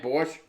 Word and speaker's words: borscht: That's your favorite Russian food, borscht. Okay. I'm saying it right, borscht?